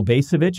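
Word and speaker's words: Bacevich: will we stay there this is from Colonel bass of itch am i pronouncing that correctly yes he observed this about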